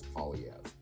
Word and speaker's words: Poilievre: you say his name the simplest way for an anglophone to say it is pev but it has been